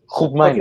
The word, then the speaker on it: Koopmeiners: Listen, my mom's got a Dutch passport, so let me pronounce this here. Koopmeiners.